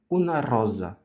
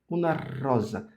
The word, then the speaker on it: rosa: E em espanhol eu tenho que falar rosa. Rosa. Una rosa. Una rosa.